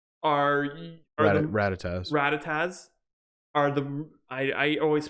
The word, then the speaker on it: Rattata: Actually, Weedles, Pidgeys, and Rattanas are Rattatas are the I always pronounce it wrong.